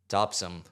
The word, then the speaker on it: Topsham: Topsham. Topsham. Topsum. There's got- no way you don't pronounce the H.